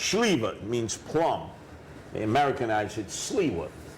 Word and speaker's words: Sliwa: Uh, in fact, when they ask me what's that last name, it's actually pronounced Schliva means plum. They Americanize it. Schliva, right?